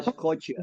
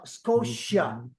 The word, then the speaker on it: Scotia: Newland Newland can you say Nova Scotia Nova scottia Scot no Scotia scottia okay new brunwick and Prince Edward Island